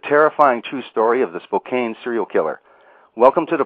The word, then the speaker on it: Spokane: for your future information, the town is called Spokane. Ah, Spokane. Thank you very much for correcting me on that. It looks like it's Spokane, but it's actually pronounced Spokane.